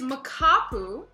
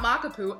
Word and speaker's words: Makapu: a couple pronunciation things it is makapu not maka poo and oh my gosh